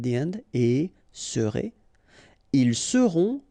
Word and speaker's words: seront: end, et serez, ils seront, final T not pronounced, elles seront.